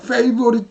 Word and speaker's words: favorite: favorite 같은 경우도 에에만 있어요.